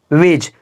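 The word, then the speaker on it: wedge: यहां पर लिखा है वेज क्या लिखा है वेज लिखा है याद रखिएगा ये जी से पहले आया दी बिल्कुल आवाज़ नहीं निकलेगा ये साइलेंट वर्ड है याद रखिएगा की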